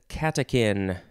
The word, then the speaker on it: catechin: the first word is catechin c-a-t-e-c-h-i-n it's like the chin of a cat the catechin no it's it's spelled with a chin pronounced like a kin noun from 1853 a